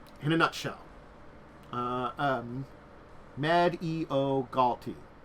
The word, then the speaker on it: Mediogalti: medog gty Island in a nutshell uh um medo GTI medo GTI medo GTI I've been saying it correctly okay cool they have a pronounce the thing for that one at least